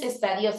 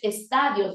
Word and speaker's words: estadios: culturas de América cuyos estadíos no es estadíos es estadios de desarrollo estadíos no debe llevar una tilde compró varios cómics qué